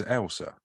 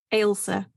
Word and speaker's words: Ailsa: Your name's Elsa? Ailsa. Ailsa. That's just a name. Yeah, but people see the A and the I and they completely lose their minds because they want